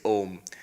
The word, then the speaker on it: Om: wrong in Sanskrit grammar when you have ah and U together with the rules of sandhi it becomes o so actually when you